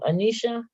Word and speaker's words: Anisha: four one people versus how do you say your first name Anisha yes ma'am Anisha Miss is